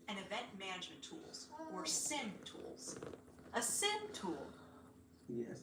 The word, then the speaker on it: SIEM: The acronym SIEM may be pronounced as SIM or SIEM, but we'll use SIM throughout this program.